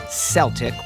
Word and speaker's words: Celtic: In English, when the letter C is followed by an E, it's essentially always said like an S. Think, cement, cell phone, race, and dance.